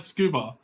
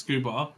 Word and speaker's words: scuba: would be SCBA because that's how it's meant to be pronounced it's meant to be pronounced scuba right it's supposed to be pronounced scuba and the other one